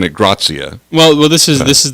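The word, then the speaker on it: gratia: um grazie spelled and the and and you're pronouncing it grazia well this is this is the latin and the latin okay not the italian ah okay so how is grazia spelled uh yeah g-r-a-t-i-a grazia ah okay yeah latin is uh is very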